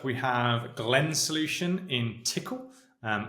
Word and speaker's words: Tcl: have Glenn solution in tickle um sometimes I call this TCL but it's not it's pronounced tickle uh Eric do you